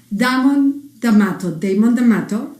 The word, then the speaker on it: Damon Damato: And so I have today founder and breathwork visionary, Damon Damato.